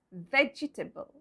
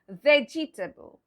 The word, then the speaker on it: vegetable: So, the E after G and the E at the end, they are silent. So, what will be the pronunciation? Yes, the pronunciation will be vegetable.